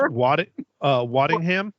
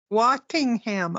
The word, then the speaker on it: Waddingham: Hannah, I believe it's Mike couldn't pronounce the word the shit, but I'm pretty sure it's Waddingham. Waddingham. Okay, I knew it was a W. Pretty sure that's how you pronounce it.